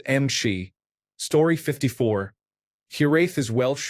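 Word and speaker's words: امشي: It is pronounced Mshi.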